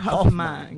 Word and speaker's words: Hoffman: Todos bajo la dirección del licenciado Carlos Luis Mier Hoffman. Muchísimas gracias. Que todos dicen que tiene acento en la segunda F.